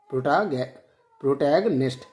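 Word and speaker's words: protagonist: इसका प्रोनाउंसिएशन जो है सही से आप लोग याद रखेंगे, प्रोटैगनिस्ट।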